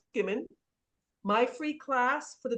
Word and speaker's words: Gimon: My last name is GIM like Mary, ON like Nancy. So it's pronounced Gimon.